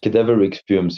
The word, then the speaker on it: Cadaveric Fumes: Cadaveric Fumes, yes.